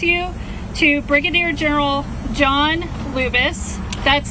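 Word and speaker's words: Lubas: In just a moment, I'm going to introduce you to Brigadier General John Lubis. That's spelled J O H N Lubis.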